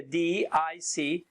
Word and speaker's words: DISC: years me being a D I see okay spell it don't say it like a word okay I'm a di